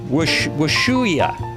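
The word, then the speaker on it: Ushuaia: Prudo Bay, Alaska, United States in the northernmost part of North America to um it's actually Wahooi. Not Wahooi. That's not right. It's a W sound at the beginning. Wua. Wuya.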